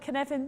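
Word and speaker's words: Cynefin: the moment hands up if you've heard of kinevin before it's felt c-y-n-e-f-i-n now you know that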